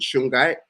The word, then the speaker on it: shungite: for me sweetie yeah so s-h-u-n-g-i-t-e is called shungai and it come it comes from like russia